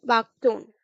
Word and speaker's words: buckthorn: सी बागटोन, सी बागटोन, सी बागटोन, SEA, बागटोन, BUCKTHORN. आर यहाँ silent है.